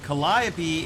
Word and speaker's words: Calliope: test drive which side note by the way Calliope is the correct pronunciation of this word in English and background